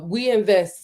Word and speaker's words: OUINVEST: It's We Invest. So it's spelled we like French, OUINVEST.ai.